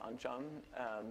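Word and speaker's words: oncom: made it spelled on come but it's actually pronounced on John there are various ways to spell it and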